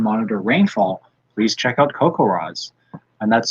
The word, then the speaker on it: CoCoRaHS: to measure and monitor rainfall, please check out CocoRaz, and that's spelled CoCoRAHS.